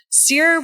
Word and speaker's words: CEER: Is that how you say it, CEER? CEER.